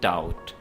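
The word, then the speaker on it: doubt: बिला शुबा या बेशक डाउट डाउट में भी साइ बी को आपने प्रोनाउंस नहीं करना है वर्ड है डाउट डाउट कहते हैं शक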